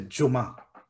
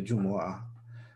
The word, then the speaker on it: Jumu'ah: to note because um most people they just shorten it and they they mispronounce it they say juma you know um it's